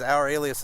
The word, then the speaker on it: Ouralias: So it's Ouralias is one word, Ouralias.